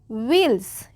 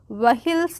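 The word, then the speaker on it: wheels: ऑन ओ एन ऑन व्ल्स इसको क्या पढ़ेंगे व्ल्स पढ़ेंगे हिल्स नहीं पढ़ेंगे क्या पढ़ेंगे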